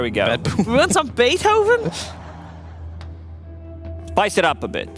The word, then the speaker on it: Beethoven: static static music with the twist of uh bethin of which TW a what what the composer how do you pronounce his name be okay there we go we want some Beethoven spice it up a bit this is this